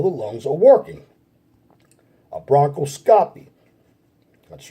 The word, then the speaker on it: bronchoscopy: The bronchoscopy involves, or the bronchoscopy, that's right, it's bronchoscopy. I apologize for the mispronunciation of the words. Some of these health words can be very difficult to pronounce. It's bronchoscopy. It's bronchoscopy.